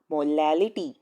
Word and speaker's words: molality: another formula for molality this word has to be pronounced properly this is molality there is another word which has r over here instead of l and that is molarity and the definition for